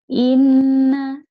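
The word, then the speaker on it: إِنَّ: Ya, i-nya harus jelas dulu ya. Inna, i-nya jelas dulu bunyi i ya.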